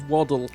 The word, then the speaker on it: Waddle: Those I only remember because I remember he said it rhymes with model.